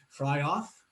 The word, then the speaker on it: Fryauff: weekend well i love your name is that pronunciation right yes that is correct and is it um fry off yes that is also correct 50 50 chance